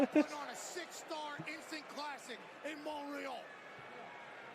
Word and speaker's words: Montreal: Zayn putting on a 6-star instant classic in Montreal. I don't know why they don't pronounce the T. It's clearly there.